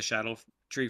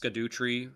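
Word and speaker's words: Scadutree: the shadow tree fragments which look like they're pronounced scadu tree um but it's actually just the same way that jail and and jail are kind of pronounced and stuff so it's Shadow tree fragments yes um but uh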